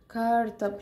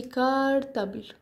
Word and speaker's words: cartable: كارتابل هكتب ازاي الشنطه بقولها بطريقه سهله قوي بكتب كلمه كار اللي هي عربيه بالانجليزي وبكتب تيبل اللي هي ترابيزه برض بالانجليزي لما اجمعهم على بعض احطهم جنب بعض طلعت لي كارتابل بقت معناها شنطه عندي في